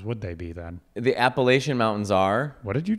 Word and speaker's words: Appalachian: The Appalachian Mountains are.